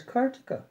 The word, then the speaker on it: Kartika: i repeated with some exasperation my name is kartika not follow i saw his eyes widen and bewilderment and the asked hesitatingly cart i responded hastily yes I'll spell it for